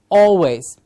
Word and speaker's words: always: call it always yes we have people calling it al it's not al it is or always these are some things